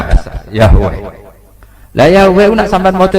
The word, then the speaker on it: Yahweh: Iku nak teng ejaan Latin Y besar, A H besar, W E H besar, Yahweh.